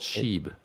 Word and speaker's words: Shib: little bit about the I want to talk about is it or is it it's Shibu Inu so it should be called sheeb sure you wouldn't say